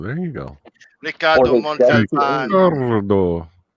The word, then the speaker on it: Ricardo: Ricardo. You must roll your R's there, Pete.